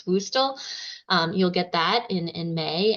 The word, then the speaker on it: WUSTL: WUSTL, we pronounce WUSTL.